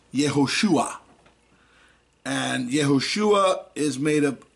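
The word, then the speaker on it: יהושע: Now, when we look up the Hebrew word 3091, we see it's the Hebrew word for Joshua, and it's pronounced Yehoshua.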